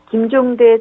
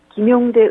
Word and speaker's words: 김종대: 또 진행자는 이날 김종대 전 정의당 의원의 이름을 김용대 의원이라고 두 차례 발음했는데요.